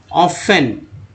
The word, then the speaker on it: often: ऑफ्टेन नहीं बोला जाता है दोस्तों, ऑफेन। ठीक है, ऑफेन पढ़ते हैं इसे। अब भाई F कहाँ चला गया? तो F साइलेंट है।